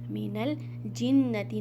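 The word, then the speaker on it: مِنَ الْجِنَّةِ: अब यहाँ पर देखिए फिर से हमज़तुल वसल मीन्स यहाँ पर हमज़तुल वसल साइलेंट अलिफ, तो हमने यहाँ पर नून को लाम में मिला देना है। मीनल जिन्नती, नून मुशद्दद, यहाँ पर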